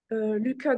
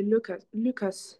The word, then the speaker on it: Lucas: Alors juste au niveau des prénoms, Lucas. Donc ça c'est ce qu'on dit en français mais quand on le prononce en anglais c'est Lucas. Faut dire en fait.